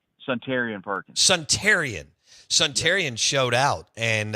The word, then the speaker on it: Suntarine: But I tell you what, do you say Suntarin or Suntarine, Perkins? How do you say it? Suntarian Perkins.